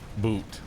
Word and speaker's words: Boot: It's boot, but you pronounce the O as in the word old.